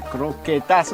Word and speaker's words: croquetas: tapasse croquetass au jambon jingle salut à tous salut à tous salut l aujourd'hui le mot tapasse va rimer avec croquetass j'ai mal prononcé c'est croquetass voilà au jambon de